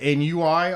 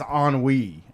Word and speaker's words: ennui: Remember when I said NUI on here? Oh, that was embarrassing. Somebody was like, it's ennui. And I'm like, that's what that word is. That's how that word's spelled. I thought it was ONWEE, Pretty much.